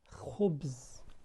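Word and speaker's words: خبز: An example of kha at the beginning of the word is khubz. Khubz. Khubz means bread. We can see kha with dhamma. Khu, khu, khubz, khubz.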